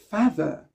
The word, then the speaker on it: father: Donc, on ne dit pas my father, c'est pas de, ou bien my father, my mother, my brother. No, no, no, no. Stop pronouncing the TH like that. You don't sound natural when you do that.